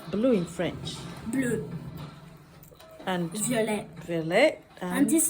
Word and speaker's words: bleu: So how do you pronounce blue in French? Bleu.